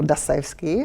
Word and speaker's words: Dostoevsky: is more famous is dostoevsky or dassevsky how his pronunciation in russian dostoevsky became friend with